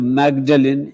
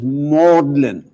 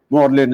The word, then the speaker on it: Magdalen: not lyster and the third word instead of magdalene is pronounced as mordlin morlin is a college in oxford then we come